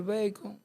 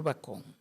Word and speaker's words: bacón: O de donde venga la palabra, que ahora no recuerdo si es del inglés, digamos bacon, pero ya sabemos que se puede decir bacon y se puede decir bacón.